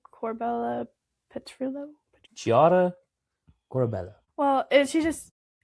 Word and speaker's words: Chiara: Taria Corbella Petrillo. Chiara Corbella.